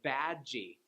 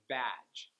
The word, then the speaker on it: badge: If you have it at the end of a word like garage, I hear a lot of Koreans add the E vowel sound at the end, like garaji or badgy, instead of garage and badge.